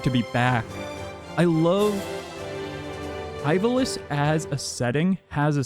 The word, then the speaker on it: Ivalice: I know a lot of people pronounce it Eiveliss, but I apologize. Ivalis is just always I think in the Japanese it would be Eiveliss.